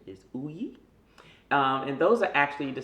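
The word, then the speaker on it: Ugni: grapes grapes it's spelled eugenei but the correct pronunciation is Ooey and those are actually the same uh grapes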